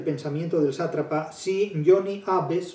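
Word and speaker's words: Abbes: Si Johnny Abes, lo vamos a pronunciar a la española, Avis o Abes, si Johnny Abis hubiera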